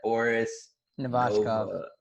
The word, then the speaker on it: Boris Novachkov: Boris Novachkov.